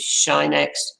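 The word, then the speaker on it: sinh x: three functions and the most common way of pronouncing them is shinex coshx and than x both the hyperbolic functions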